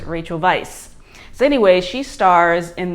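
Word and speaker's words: Weisz: to pronounce it it's Vice apparently it is a Hungarian name or of Hungarian origin so it's Rachel Vice so anyway she stars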